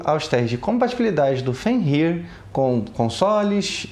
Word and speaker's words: Fenrir: Eu chamo o dispositivo de FenrIR. E tá errado, pelo que eu pesquisei, a pronúncia correta seria FenrIR.